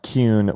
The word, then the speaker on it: Kuhn: The last name is pronounced Cune with a U sound.